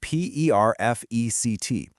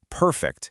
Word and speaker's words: perfect: Take the word spelled p e r f e c t. If you put the stress on the first syllable, perfect, it's an adjective, like, "Your drawing is perfect." But, if you move the stress to the second syllable, perfect, it becomes a verb, like, "You need to perfect your technique."